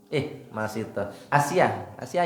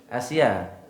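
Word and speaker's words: Asiyah: Kemudian yang kedua Masitoh. Asia ya bacanya. Asia, istrinya Fir'aun gitu.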